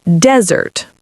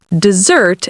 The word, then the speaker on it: desert: So, desert as a noun is desert, stress on the first syllable. Desert as a verb is desert, stress on the second syllable.